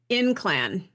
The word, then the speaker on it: Ynclan: Yeah, this is Cassandra Inclan, I think is how you pronounce it. The spelling is Ynclan. Okay.